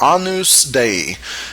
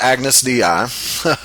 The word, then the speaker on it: Agnus Dei: And the last one is a little difficult to pronounce, but Latin is pronounced differently than English. It's Agnus Dei. It's not Agnus Dei. That's how it's usually mispronounced. But Agnus Dei, which means Lamb of God.